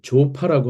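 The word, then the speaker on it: ZOPA: 이때 이제 조파라고 하는데 좀 발음이 특이하죠? Zone of Possible Agreement의 약자입니다.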